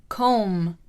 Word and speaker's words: comb: I'm going to teach you some of the words with silent letters. Let's begin. Silent B. Climb, climb. Comb, comb.